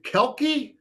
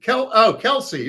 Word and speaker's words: Kelce: Kelky? How do you pronounce that? Jason Kelky. Kelsey.